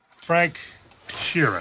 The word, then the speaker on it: Frank Sheeran: Frank Sheeran.